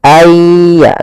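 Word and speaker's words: أَنْ يَضْرِبَ: tanwin an, in un, maka cara membacanya kita masukkan suara nun ini ke huruf setelahnya. Kalau di sini hurufnya adalah ya, maka masukkan nunnya kepada ya sehingga nunnya hilang tinggal ya ay ditasdidkan dia seakan-akan yanya dua yaitu ya sukun dan ya yang bertasdid. Ayya.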